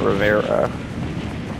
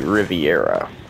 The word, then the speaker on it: Riviera: I've been calling it Rivera. I'm saying it wrong. It's not Ritzy Rivera, it's Ritzy Riviera.